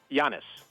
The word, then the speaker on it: Giannis: Giannis.